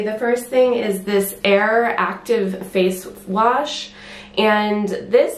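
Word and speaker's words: Eir: anything is that the name of the brand err e IR which is how you pronounce it it means it's a mythical goddess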